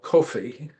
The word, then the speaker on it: Cuffee: famous Black sea captains, Paul Coffey, his last name is spelled Cuffee, but he took the name of his father, Kofi, an African name.